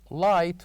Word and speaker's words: light: And we have number seven light where g and h are silent.